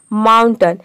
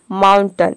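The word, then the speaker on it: mountain: कर रहे हैं माउंटेन ये माउंटेन नहीं होता है कई सारे स्टूडेंट इसको प्रोनाउंस करते हैं माउंटेन माउंटेन मतलब पहाड़ तो ये गलत प्रोनंसिएशन है इसको हम प्रोनाउंस करते हैं माउंटेन यानी कि अ का साउंड आएगा ए का साउंड नहीं आएगा माउंटेन होता है इसका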